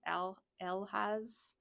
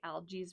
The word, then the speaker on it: Elhaz: Okay, so this is the letter Z, and it says algaes, but the pronunciation says Elhaz rune. But I think like I've heard people say algaes rune. It might just be a difference in how people say it.